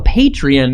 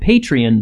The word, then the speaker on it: Patreon: that we have a patreon now and it's very exciting I just pronounced it patreon but it's actually patreon so go find us